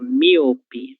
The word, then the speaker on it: míope: Míope, míope. E, normalmente, nós vamos fazer a leitura da letra O, que nós temos aqui, como se fosse um U.